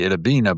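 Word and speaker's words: Itta Bena: don't cry for me Idabbina but he was realizing people wouldn't realize that it rhymes with Argentina because it's i t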